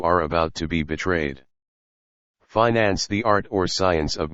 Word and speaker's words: finance: advantage of the manager the pronunciation of this word with the i long and the accent on the first syllable is one of america's most precious discoveries and possessions flag a colored rag